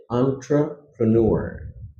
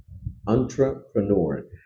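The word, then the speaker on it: entrepreneur: এটার সঠিক উচ্চারণটা হচ্ছে আন্ট্রাপেনর আন্ট্রাপেনর এটা যদি তুমি এক্সাক্টলি যে বানানটা আছে এই বানানটা যদি ফলো করো তাহলে একটু ভুল হয়ে যাবে কারণ এটা ফ্রেঞ্চ শব্দ থেকে আসছে এটা এন্ট্রে বানানে যেরকম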